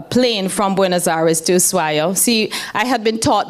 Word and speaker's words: Ushuaia: from Buenos Aires to Ushuaia. See, I had been taught that it was pronounced Ushuaia until I got there and the native said, it's Ushuaia.